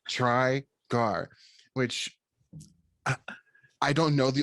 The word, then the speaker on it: Trygar: it's like it's literally it literally is pronounced how it looks yeah try gar which i don't know